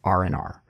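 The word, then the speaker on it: R&R: smooth word even though it's technically the letter R plus the word and and the letter r one more time but when we're pronouncing it we just say RNR so keep note of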